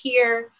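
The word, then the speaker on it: hir: use things like uh h-i-r which i think is pronounced here and so um also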